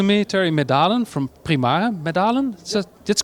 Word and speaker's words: Medalen: Medalen? That's correct? Okay, I even pronounced it correctly.